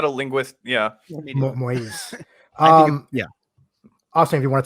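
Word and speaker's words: Moïse: I think it's Moise because it's got the two. I'm not a linguist. Yeah, Moise.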